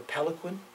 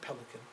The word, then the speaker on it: palanquin: His corpse was brought back to Lhasa on a palanquin. Is that how you pronounce it? Not pelican. No.